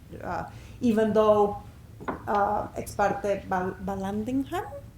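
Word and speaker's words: Vallandigham: even though uh expert Balandingham is how you pronounce him said you know that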